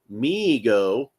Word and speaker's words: Mego: Uh, MIGO, pronounced MIGO, uh, Corp, was started by his father, David